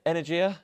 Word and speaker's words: Energia: Do you pronounce it Energia? Energia. Energia.